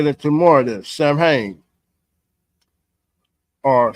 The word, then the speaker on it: Samhain: Samhain, or Samhain, or Samhain. Some people that, hey, it all depends on how you want to pronounce it.